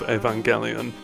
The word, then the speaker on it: Evangelion: twisting the pronunciation of Evangelion around the shape of the song and pointing out the way that it's pronounced with a G not a j but the first syllable